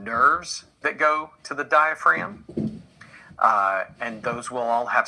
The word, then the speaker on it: diaphragm: letter dia fragum die diaphragm it's not pronounced the g is silent the g but you